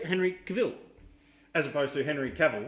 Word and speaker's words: Cavill: I'm like, well, everything I've seen over the year, they've said it Cavill, Henry Cavill, but it's when you look at it, it probably should be just Cavill, and he's right.